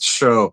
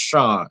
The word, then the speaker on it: Chaude: So, so I actually looked up cuz I would have pronounced that show. So, I had to look up the proper French pronunciation because of the e at the end is pronounced Shod, which makes it the feminine pronunciation.